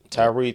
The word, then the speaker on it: Tyre: is it Tyree am I saying it right yeah yeah Tyree Tyree Nichols uh Tyree Nichols